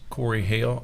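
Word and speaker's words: Corey Hale: My name is Corey Hail. I'm a sergeant with the Tallahassee Police Department and my name is spelled C O R E Y H A L E.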